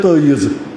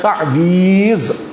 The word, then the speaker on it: تعویذ: تعویذ یا کشمیری کہتے ہیں تعیذ، یہ تعیذ کا یہاں کا تلفظ ہے لیکن اصل میں ہے تعویذ.